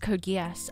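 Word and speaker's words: Code Geass: Yeah, Code Leoko is pronounced Code Guas.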